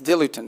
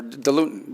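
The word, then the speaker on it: diluent: As in fact, one of the things they need is dilutin, or dilutin, depending how you want to pronounce it.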